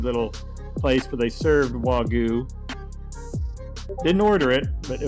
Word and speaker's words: Wagyu: How do you pronounce the steak that starts with a W? I think it's Japanese. Wagyu.